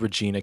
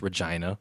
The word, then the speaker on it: Regina: that's how it's pronounced I thought it was Regina Canada it's actually pronounced Regina right yeah yeah and this in this one